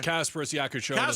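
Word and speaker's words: Kasparas Jakučionis: Can you pronounce his name, Lauren? His name is Kasparas Yakuchonis.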